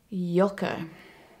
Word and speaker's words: Joke: shut my damn mouth the name yoka is a dutch name and it is spelled joke and one time my